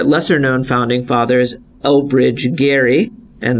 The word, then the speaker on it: Gerry: founding fathers Oh bridge Gary and that's how his family pronounces the last name apparently although he was a